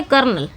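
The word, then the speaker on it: colonel: इसमें आर नहीं लिखा जाता लेकिन बोला जरूर जाता है। कर्नल इस तरह बोला जाता है।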